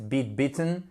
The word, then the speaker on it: bitten: To bite, bitten. Là, la prononciation de la voyelle I va changer. To bite, bitten, c'est mordre.